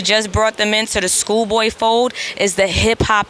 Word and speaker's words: Skoolboye: And don't forget to @Schoolboy, and it's spelled the right way. SKOOLBOYE, like boy.